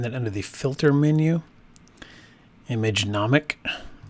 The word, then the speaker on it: Imagenomic: under the filter menu image anomic portraiture I believe that's how you pronounce the company's name so here this brings